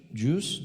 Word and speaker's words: Jus: Do you pronounce it Juice? Yes.